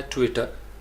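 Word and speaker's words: Twitter: इसी तरीके से होता है ट्विटर, ट्विटर, अब हम कहेंगे ट्विटर तो पहला सिलेबल क्या होगा? ट्विटर, ट्विटर, आपने अक्सर सुना होगा BBC न्यूज़ के अंदर ट्विटर, ट्वीट, ट्विटर, तो फर्स्ट सिलेबल के ऊपर आपने स्ट्रेस करना है।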